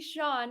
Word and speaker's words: Sian: And I have with me Shawn, which you would never know that her name is pronounced Shawn because it's Sian.